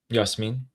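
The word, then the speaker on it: ياسمين: Yasmin.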